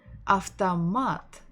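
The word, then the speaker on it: автомат: word ah the mat after mat stressing the final syllable of tamat after mat so can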